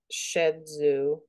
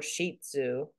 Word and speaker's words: Shih Tzu: I have the pronounced shed zoo in the West, or sheet zoo. And then the Chinese say scherzer.